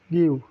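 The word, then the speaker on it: ギュ: কি হওয়ার কথা ছিল? গি ইউ, কিন্তু হয়ে যাবে কি? গিউ।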